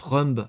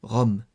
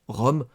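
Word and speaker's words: rhumb: Cependant, ce mot que je prononce rumble afin d'entrair l'orthographe en réalité se prononce Rome. Le B est muet.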